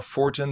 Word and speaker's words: Fortin: Fortin, the new, is it Fortin or Fort? How do you properly pronounce it?